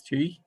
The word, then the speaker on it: Chi: Chi um Miss Chi and did I pronounce your name correctly you pronounced it perfectly thank you um I sometimes get it right it's like Chief without the F okay so tell us